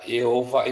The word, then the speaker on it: Yehova: Shema Israel, Adonai, ya Yehova itu ya. Ini sebetulnya cara baca yang salah. Karena ini bacanya sebenarnya Yehova, karena ada patah di bawahnya, membuat kata Y.